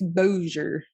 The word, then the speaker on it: Bossier: So, pardon me if I say this wrong. Bossier City, but that's how they said it in the documentary. There you go. It's spelled like Bossier. But it's Bossier City, Louisiana.